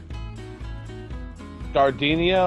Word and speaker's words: Gardenia: Gardenia, or it's... Is that what you're saying? I can't really Garden IA, basically. That's how you spell it.